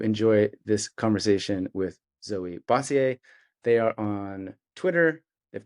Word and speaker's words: Bossiere: It's a Bossiere.